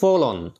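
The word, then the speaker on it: forlorn: উচ্চারণটা কি হবে? ফলন, ঠিক আছে, এতটাই দুঃখী দেখাচ্ছিল।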